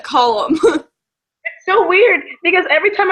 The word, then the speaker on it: Callum: Okay, so I was pronouncing it Tamara in my head and like Callum and Cal, but apparently it's like call, like column.